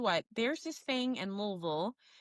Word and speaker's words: Louisville: I also want to shout out the fact that you said Louisville, which is the correct ter uh correct pronunciation of the city.